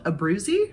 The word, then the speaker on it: Abruzzi: It's called Abruzzi rye, I believe. Is that how you would pronounce that?